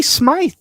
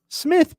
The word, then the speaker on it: Smythe: were getting torched by D Smythe Smith probably is how it's pronounced but I